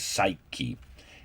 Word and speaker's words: psyche: the word greek word for soul is it's pronounced in english psyche and psychology is literally what you find in